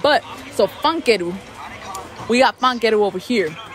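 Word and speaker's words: ファンケル: We got fankeru over here. So in Japanese, you say fankeru, even though it's written funko.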